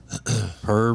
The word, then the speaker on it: poor: says though per him per rich meaning poor that's how they pronounce poor poor here but when i see